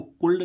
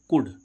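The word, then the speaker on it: could: अब देखो इसको कुल्ड नहीं पढ़ेंगे हम। क्या? कुल्ड नहीं पढ़ेंगे। ठीक है गाइस? इसको क्या पढ़ेंगे? कुड। कुड मीन्स क्या होता है? सकना। देखो यहां पर भी एल कैसा हो रहा है?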